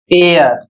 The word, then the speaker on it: heir: सम्मान next word है एच ई आई आर और इसे पढ़ा जाएगा एयर और इसकी हिंदी होती है वारिस।